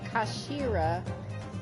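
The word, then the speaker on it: 頭: of the hilt yes it's written as head in japanese but it's pronounced as uh kashira i believe kashira sinistra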